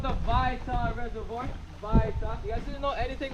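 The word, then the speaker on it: Waita: Vaita. You guys didn't know anything with a W? In Hawaiian, it's pronounced like a V.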